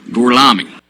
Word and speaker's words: Gorlami: Gorlomi? Lo pronuncio correttamente? Sì, corretto. Gorlomi? Per cortesia, me lo ripeti ancora. Gorlami.